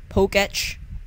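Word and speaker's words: Pokétch: Yeah, by the way, it's pronounced Poketch. I mean, that's how they pronounce it in the show, I guess, yeah.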